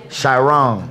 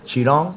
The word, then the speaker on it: Chiron: Chiron. Oh, it's one of those. That's like a modern one. That's how you say it? Chiron?